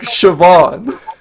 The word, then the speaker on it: Siobhan: that's a cool name no it's like Siobhan yeah one of the college humor crew is called Siobhan and it's spelled that way and it's ridiculous right yes it's insane